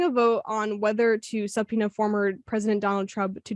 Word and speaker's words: subpoena: It's like subpoena.